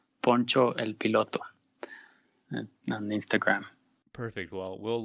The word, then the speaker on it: Poncho el Piloto: I'm on Instagram as, it's in Spanish, so I'll spell it out. It's called Poncho el Piloto, like Poncho the Pilot. So it's P-O-N-C-H-E-L, and then Pilot with an O in the end, P-I-L-O-T-O, Poncho el Piloto on Instagram.